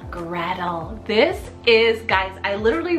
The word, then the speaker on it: Gretel: little vintage we have Gretel spell g-r-e-t-e-l Gradle this is guys I